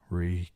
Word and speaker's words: Reek: Reek. Reek. It rhymes with peak.